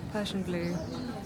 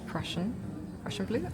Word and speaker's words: Prussian blue: So it's a synthetic Persian blue. Oh, it's imported from Japan. That's cool. Imported to Japan, rather. Okay, so it's pronounced Prussian blue, and it was imported to Japan from Germany.